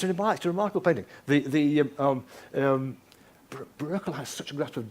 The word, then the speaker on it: Bruegel: You'll all know this wonderful painting by Pieter Bruegel, not Bruegel. I'm told by a Dutchman that this is the correct pronunciation.